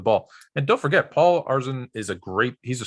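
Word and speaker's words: Arizin: tone it's paul arizon i thought it was arson correct me one more time i'm not picking the rockets so we don't have to say his name anymore um i wanted to call him arzine but i saw someone where it said it was showing you how to say it and it says arsene arizon are azan it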